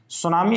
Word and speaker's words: सुनामी: सुनामी असल में टी से शुरू होता है, वैसे टी साइलेंट होती है इसमें, तो इस तरीके से इसे लिखते हैं सुनामी को।